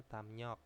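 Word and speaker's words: 담력: terus ada damnyok ya Dam rok itu bacanya damnyok itu bisa diartikan dengan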